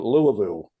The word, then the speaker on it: Louisville: people on the panel for saying Louisville, and yet it's been reinforced today with Don and others that that's the way it is pronounced.